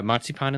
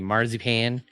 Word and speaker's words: marzipan: chocolate it's got uh moip Pon in the middle oras I guess I'm supposed to say marip pan uh well that's the way Americans pronounce it can I see before